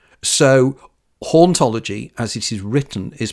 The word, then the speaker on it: hauntology: created the world word hology but it's cleverer than that because in French the H isn't sounded so hology as it is written